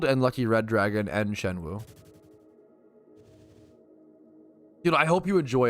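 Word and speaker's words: Xuanwu: The dragon mount, it's called the Shenwu mount, but it's spelled like X-U. X-U-A-N. I believe someone told me once it's pronounced Shenwu.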